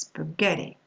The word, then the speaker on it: spaghetti: And for the words coming from Italian, they're stressed on the syllable before last, spaghetti.